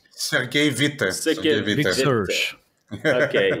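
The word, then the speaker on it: Sergei Witte: Sergey Witt? Sergey Vite.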